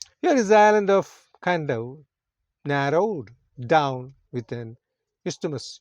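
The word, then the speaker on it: Kadavu: On the island of Kandau, pronounced as Kandau, one of these larger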